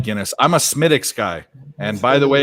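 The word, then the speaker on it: Smithwick's: like Guinness I'm a smittix guy and by the way if you don't pronounce it smittix you are Yankee they cost it's not spelled that way but you know what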